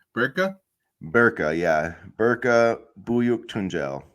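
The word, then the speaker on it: Berke: and how do you say his first name burka burka yeah burka buuk tunel so anyway there's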